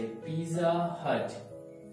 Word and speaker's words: Pizza Hut: Alright, so next one इज हम क्या pronounce करते हैं, से पिज्जा हट है ना।